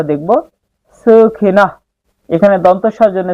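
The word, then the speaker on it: সুখিনঃ: এখানে দন্তস জন্য স হয়েছে এবং শব্দের শেষে যদি কোন বিসর্গ থাকে তার সঠিক শুদ্ধ উচ্চারণ হয় অর্ধেক হ এর মত। সুখিনা। শুধু মুখ দিয়ে একটু হাওয়ার মত বের হবে। সুখিনাহ।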